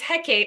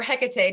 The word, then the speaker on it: Hecate: own book yet so it's Hecate or Hecate depending on what how you want to pronounce it but so she